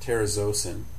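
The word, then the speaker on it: terazosin: Next is terazzisin is how I've always pronounced it, but I've also heard it as terrazosin and that's hyrin.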